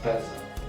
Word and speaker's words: bezel: Yeah, but not basil, bezel.